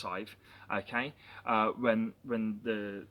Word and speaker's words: Sadhbh: Um and it's spelt for those who are interested s a d b h but pronounced Sadhbh, okay?